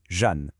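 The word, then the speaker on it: جان: En persan, l'âme, cette petite étincelle de vie à l'intérieur, ça se dit « Jan ». Et ça se prononce à peu près comme le prénom « John ».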